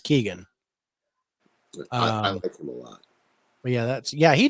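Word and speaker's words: Keoghan: Keegan or or kogan it's k-e-o-g-h-a-n I think it's pronounced Keegan um yeah that's yeah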